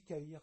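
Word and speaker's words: Cahir: Monsieur Caïr, ça s'écrit bien K-A-H-I-R, c'est ça? Pas du tout. C-A-H-I-R. Comme un cahier, mais sans le E.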